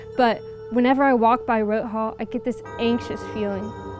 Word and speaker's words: Roth Hall: with the incident since i share the same name my name's roth it's not pronounced the same but whenever i walk by rote hall i get this anxious